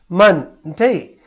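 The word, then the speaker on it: Monday: इसमें 2 सिलेबल्स है पर उच्चारण करते समय मन ये शब्द नीचे रह जाता है और डे ऊपर उठ जाता है, मन डे।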